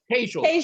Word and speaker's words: Tejal: How do you pronounce the name? Tejal. Just like Hazel. Hazel, but with a Tejal.